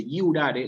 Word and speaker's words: iurare: Jurare, así se escribe, pero se dice iurare, la J suena como una I.